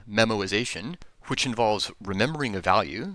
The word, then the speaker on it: memoization: invocations of a function incidentally that is not a mispronunciation of the word memorization it's a technical term it's memorization without the r this method as it